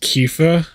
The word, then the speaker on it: Quifa: It's pronounced Kifa. It's like Quina and like Tifa fused together.